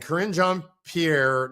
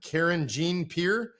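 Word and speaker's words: Karine Jean-Pierre: Press briefing room and Karen John Pierre no I should say it correctly Karen Jean Pierre I know I stole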